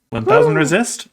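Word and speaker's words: 1000xRESIST: I think the besties talked about this, that it's like Hunter x Hunter. You don't say the X. Yeah, So I it's couldn't 1000 decide on Resist. 1000 Resist, huh?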